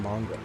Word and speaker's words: manga: It's Mongol. Say manga one more time. I just did manga. That's how it's pronounced, manga.